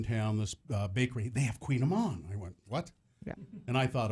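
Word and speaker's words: Kouign-amann: But I just Kouign -AMANN. Pronounced Queen Amman, right?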